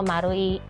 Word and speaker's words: マルイ: 怎么念，它是代表圈圈和一合在一起，日文念作马路一，就是丸景百货。